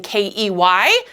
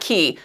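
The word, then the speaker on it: cay: they're spelling it celebration ke y because c a y and c a y s are both pronounced key Cruisers mispronounce it all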